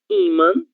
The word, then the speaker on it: ímã: Então, nós lemos ímã, sílaba tônica I, e nós lemos órgão, sílaba tônica OR, ok?